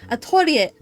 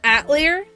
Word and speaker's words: Atelier: We're looking for is it Atalia or Atalia? It's really complicated. Does it matter? I think there's like a ton of different ways to pronounce it because I had the game with Japanese audio, so it's just Atorie for me, but in English it's dubbed as Atlier, and then the New